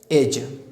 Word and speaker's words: edge: You know very well that D is the silent letter in the word age. D is a silent letter. Edge, किनारा, ब्रिज, पुल, climb, चढ़ना।